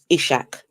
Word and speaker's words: Ishaq: called The Life of Muhammad by by Ibn Ishaq. Ibn Hisham, Ibn Ishaq.